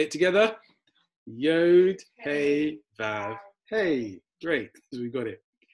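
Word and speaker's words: וו: And then the next one, you pronounce this letter as V as Vav, and then you pronounce the Hey as Hey.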